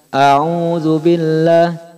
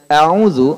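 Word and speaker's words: أعوذ: dalam kaleng aozoom pertama Jangan sampai kita memanjangkan Hamzah sehingga membacanya Audzubillah Audzubillah Nis kesalahan-kesalahannya bukan sekedar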